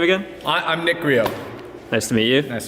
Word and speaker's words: Griot: videos and stuff and I can never tell if like the presenters are like like pronouncing the T in the name I'm like what's going